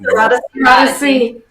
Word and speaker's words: Syrodesy: Anyway, Thank you so much for Syrodesy. Do I'm saying Syrodesy. Cyrus again? Syrodesy, yes.